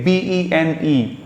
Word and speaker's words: bene: For example, let me give you some roots, say B-E-N-E. We pronounce that bene.